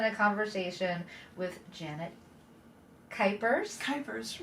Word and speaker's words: Kuypers: Kuypers, rhymes with Hyper.